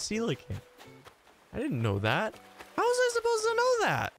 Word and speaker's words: coelacanth: is that how you pronounce it look III pronounce the coelacanth koala can't in that video and people have been giving me so much crap over that was actually pronounced I've always pronounced that koala can't always and it's Selig I didn't know that